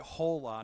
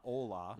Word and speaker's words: hola: They actually pronounced it hola, not ola. It's hola. I love the emphasis on the H.